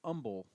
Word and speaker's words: Humble: It's spelled humble. It's pronounced umble.